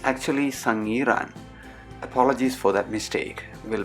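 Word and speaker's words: Sangiran: last episode i made a significant mistake by pronouncing the village of java man museum as sangrian it's actually sang iran apologies for that mistake will be more careful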